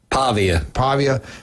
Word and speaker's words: Pavia: Pavia. He's good. 22. We were calling him Diablo Pavia. Diablo is really good. it's Diego. It was Pavia. Diablo. We were calling him Diablo Pavia.